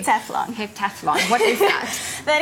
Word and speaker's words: heptathlon: You know, with regards to, I heard you did a heptathon. Did I pronounce that even correctly? Heptathlon.